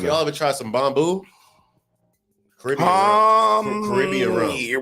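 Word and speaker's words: Bumbu: I got Bamboo. B-U-M-B-U. Say it again. Bamboo. Now you said it right.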